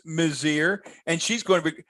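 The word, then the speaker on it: Mizeur: had heather mazzier on i remind folks it is mozir we asked her nestor was great he said please pronounce it she said i know people think it's mazor and ms it's mazir and she's going to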